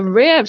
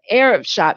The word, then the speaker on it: Ariv: Rivers, and they are the founders of the Rev Shop. Arab Shop. God, I knew I was going to get it wrong. Goodness. You're fine. All right. It's called the Arab Shop, and it's spelled ARIV.